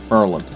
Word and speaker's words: Maryland: It's like Maryland is Merland.